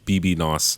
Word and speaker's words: bbno$: baby no money ah photos pronounced BB knows his a rapper and